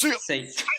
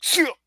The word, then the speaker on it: Seiya: No, it's just Seiya. Yeah, wouldn't want to be. It's like a real quick like Seiya. You got to say it like you're out of breath, like Seiya.